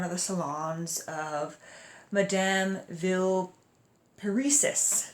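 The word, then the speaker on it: Villeparisis: the salons of madame ville paresis ville paresis I'm going to pronounce her name that way so he gets into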